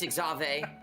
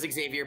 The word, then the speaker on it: Xavier: It's Exave. Excuse you. It is. It's even though I thought it was Xavier, but it's Exave. I think the um the subtitles spell it Xavier, too. Oh, it's spelled Xavier. It's not said that way, though.